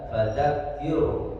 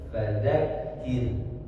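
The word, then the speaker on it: فَذَكِّرْ: Yang pertama ro sukun di ayat pertama cara bacanya fadakir. Nah, tipiskan cara membaca fadakir ya. Tidak fadakir tapi fzakkir. Baru kemudian ro yang selanjutnya innafaatidzikro rnya tebalkan ro kid roh ini berbeda.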